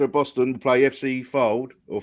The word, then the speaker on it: Fylde: And the winner of Kidderminster of Boston will play FC Fylde or Fiddle. I don't know how you pronounce that. Fylde, yeah.